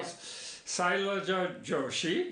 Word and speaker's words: Sailaja Joshi: Oh, well, Sailaja Joshi. You got it. Very nice, from Bharat Books. Yes. Am I pronouncing that right too?